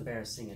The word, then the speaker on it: barasingha: video how to um you know flesh a barracinga tail i finally figured out how to pronounce that word i just got back from work and so here's the bare singer tale it's been salted already and so now